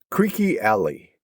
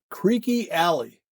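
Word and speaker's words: Creeque Alley: Phillips and Michelle Phillips and they were singing Creeky Alley. Creaky Alley and it's spelled Cheers C R E E Q U E.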